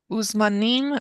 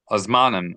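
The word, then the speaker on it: וּזְמַנִּים: And every time you see an U, the letter U in a transliteration of Hebrew, you want to make sure that you always pronounce it as an U, never as an A. Otherwise, you'll end up reading it Azmanim, Azmanim. You don't want to do that.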